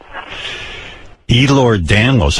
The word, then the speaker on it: Ehlers-Danlos: Ehlers-Danlos. How many people in the world have that? Can't be many. About 9 out of 10 people. 9 out of 10 people have Ehlers-Danlos?